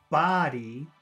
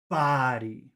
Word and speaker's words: body: air going down and if you want to say the word body you should be spitting it out body there should be some air actually coming out Body Buddy body so so buddy you eat don't eat your buddy and body you spit out I hope that answers